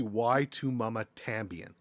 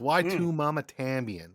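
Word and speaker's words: Y tu mamá también: pronouncing this movie uh it's actually why to mama tambien that's what you're supposed to say i'm sorry you're wrong it's why two mama tambien okay anyways why two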